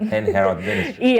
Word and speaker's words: En-Heralds Ministry: So En-Heralds Ministry, is that how to pronounce it? Because there's an E-N. How do I pronounce that? En-Heralds Ministry. En-Heralds Ministry. Okay.